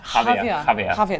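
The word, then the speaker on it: Jávea: Javier. There's a J in there, but you don't pronounce it.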